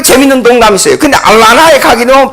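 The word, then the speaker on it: Atlanta: 근데 미국의 남부지방에 알라나 그 재밌는 하는 얘기 지났으니까 이 얘기를 하는 한국 사람이 이제 미국에 갔습니다. 근데 아틀란타 발음을 영어식 남부식으로 봐 알라나라 그래요. 알라나 아들 낳다하고 비슷해요.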